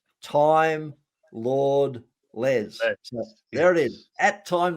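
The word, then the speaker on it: timelordles: out and it's at time lord les and it's at time lord les it's not at time lordles but that's exactly the way you'd spell it time lord less there it is at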